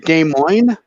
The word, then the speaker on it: Des Moines: How do you pronounce the capital of Iowa? Is it Des Moines?